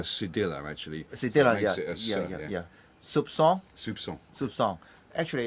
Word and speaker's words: soupçon: Soupçon. Soupçon. Yeah. How to pronounce this? With a s, like an S. Sir. Like an S. This is called a cedilla, actually. Cedilla, So yeah. Soupçon.